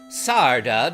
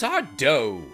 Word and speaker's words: Sarda: Sarda does not fear the evils of the cave. That's Sardo. No, mister. Accent on the dough.